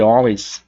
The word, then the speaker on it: always: A pronúncia aqui inicial de always não é com o som de A, tá? Always. E sim um som de O.